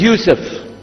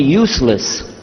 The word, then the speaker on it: Yusuf: so i'm gonna go my name is yusuf he say used to Michigan very good I wish you teach my wife she keeps mispronouncing it she calls me useless home delay now how many